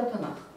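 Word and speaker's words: תנ״ך: Отсюда аббревиатура Танах. Вот я вот так, бо «к» у словой позиции у конце слова будет як «х».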